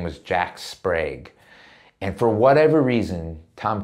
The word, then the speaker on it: Sprague: He's like, sound it out for me phonetically. I'm like, it's like Jack Sprague.